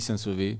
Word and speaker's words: Saint-Sever: Ça s'écrit ER, hein, Saint-Sever. Voilà. Parfois ça s'écrit Saint-Sever, mais ça se dit... Chez nous on dit Saint-Sevé. Voilà, Saint-Sevé.